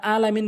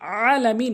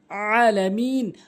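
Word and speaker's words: العالمين: রাব্বিল আলামিন বলেন যারা আলামিন বলেন তাদের নামাজ হয় না বলতে হবে আলামিন অর্থাৎ আইনটি হলকের মাঝখান থেকে উচ্চারণ করতে হবে আলামিন অর্থাৎ আইন এরপরে গন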